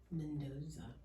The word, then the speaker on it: Mendoza: Mendoza. I did pronounce that right.